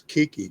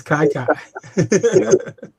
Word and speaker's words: Kiki: And I always thought it was Kiki Kyler, but it's not. No, it's Kai. Because it rhymes with the first syllable of his last name.